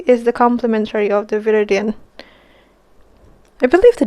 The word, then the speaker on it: viridian: So what I want to do, I mix the viridian.